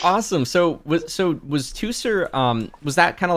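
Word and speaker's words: Teucer: ingention uh what yeah what how do you pronounce his name two sir two sir and that's the younger brother of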